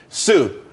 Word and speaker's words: Tsū: Sue, TSU. It's pronounced Sue though.